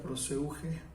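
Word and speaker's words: προσευχή: En griego, oración se pronuncia proseuge.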